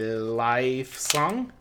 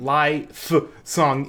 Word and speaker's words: Lifesong: is by Lifesong oh it isn't lie song it's life song but life is spelled wrong I was it because it's about lie and then f song ah so I think it's supposed to be life song but they the name